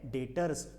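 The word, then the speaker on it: debtors: क्या कहा जाता है डेटर्स बच्चों उसमें से बी क्या है साइलेंट है कि क्या है साइलेंट है बराबर तो उसको डायरेक्टर में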